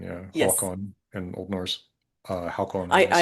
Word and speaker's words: Håkon: Håkon? Yeah, King Haakon. Yeah, okay. Yeah, Håkon, yeah. Haakon. That's how I know how to spell it. So Yeah, H A long A K O N, yeah. yes. Håkon in Old Norse.